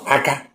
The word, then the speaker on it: aka: Each word the pronunciation will determine the meaning. Let's look at number first one, aka.